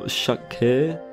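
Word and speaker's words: shakkei: what they often call shakke, if I pronounce it correctly. The E at the end should just give you a longer eh sound.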